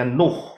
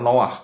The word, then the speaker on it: Noah: Noah Noah Ini ya bahasa Indonesianya Nuh begitu ya tetapi sebetulnya adalah Noah karena ada dari dua huruf ingat ya bacanya dari kanan no Noah ya Noah yaitu